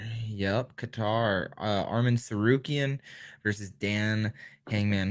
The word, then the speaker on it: Qatar: Is that over in how you pronounce it? Qatar. Yep, Qatar.